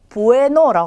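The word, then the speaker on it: bueno: 자, 우선 첫 번째는 영어의 B와 같은 모양인 스페인어는 베라고 하는데 자, 이 친구는 비읍 발음이에요. 그래서 단어 어디에 오더라도 비읍으로 발음을 해주시면 돼요. 자, 그러면 이제 하나씩 읽어보도록 할게요. 첫 번째는 부에노라고 합니다.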